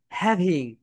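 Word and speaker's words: having: ভি যখন উচ্চারণ করবে, তখন তোমাদের উপরের দাঁত নিচের ঠোঁটের সঙ্গে টাচ করে, বলো ভি, ভি, বলো হ্যাভিং, হ্যাভিং, হ্যাভিং, হ্যাভিং।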